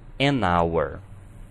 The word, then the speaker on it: hour: Hour, an hour. Notem que em hour não estamos pronunciando o H como um R.